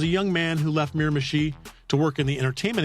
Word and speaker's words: Miramichi: Miramichi is an indigenous name, so I don't know if there people have trouble pronouncing it. Miramichi, Miramichi.